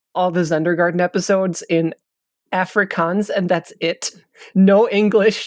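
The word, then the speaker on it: Afrikaans: Everyone's going to learn apricants and then uh record over. If you want to do that, you have to get the get the accent right. So, first of all, it's it's pronounced Africans and then the way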